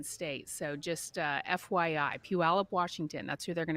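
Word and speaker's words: Puyallup: the Pacific Northwest okay you pronounce the town from where these kids are from as peup some might say peup which peup is okay but it's peup it's not pulley up it's not pup it's a weird looking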